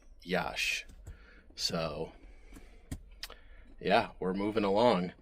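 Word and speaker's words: Iași: I believe it's pronounced uh Yash. I think it's I si, but I think it's pronounced Yash.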